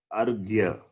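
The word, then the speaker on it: अर्घ्य: It is pronounced as argya. Argya. Okay. Okay. It is not the other way. Repa is first.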